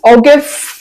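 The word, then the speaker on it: ogive: अब हम आ जाते हैं नेक्स्ट ऑगव की तरफ। इसको जाइफ भी कहते हैं बाद लोग और इसकी प्रोनाउंस ओगिव चले हम ओगिव कह देते हैं।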